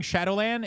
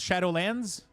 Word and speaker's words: Shadowlands: those three little mistakes I hate that you're saying Shadowland it's shadowlands yeah but in French we